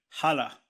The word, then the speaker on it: HHLA: So a lot of people ask me, how do you say HALA? So it's actually, the name is HHLA, which is basically your Hamburger Hafen and Logistik.